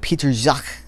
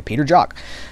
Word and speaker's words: Peter Jacques: it's jacques it seems like it'd be like peter jacques but it's it just it was like j okay so it was like you pronounce it j okay peter jock uh he was i think it was a